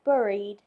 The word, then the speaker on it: buried: Thanos Thanos what the word buried is pronounced to rhyme not to rhyme exactly with berry berry bur isn't